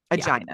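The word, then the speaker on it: Aegina: daughter Aina I had to see how to pronounce that name Aina is how you say it who disappeared Copus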